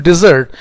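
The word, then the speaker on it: dessert: ई आर टी है अगर double S लगा है तो उसको बोलते हैं हम डिजर्ट डिजर्ट एक मिठाई या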